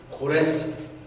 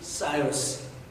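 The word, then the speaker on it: Cyrus: 그때 페르시아의 왕, 우리 한국말로는 고레스, 영어식 발음은 사이러스.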